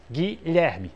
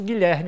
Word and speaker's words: Guilherme: Guilherme, sílaba tônica na segunda. Eu digo, eu conheço Guilherme Robalinho, como disse, eu conheço Rogério Robalinho.